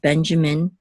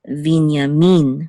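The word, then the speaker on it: בִּנְיָמִין: the last syllable and also with Benjamin exit on the first syllable but in Hebrew it's been it's um Vina mean with Accent on the lasso okay okay so we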